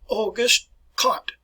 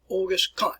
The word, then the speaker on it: Auguste Comte: way I pronounce this, Auguste Comte. All right, even though it's spelled C-O-M-T-E, it is spelled Comte, Auguste Comte.